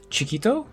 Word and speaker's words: Chiquito: name of the game is it pronounced chikito yeah that's really good that's exactly how it's called okay good good um